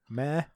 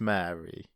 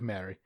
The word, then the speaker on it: Mare: stars now am I pronouncing this lady's name m a r e Mary may I presume it's Mary I think so she's not going be called May is she no that's like a horse it's not like a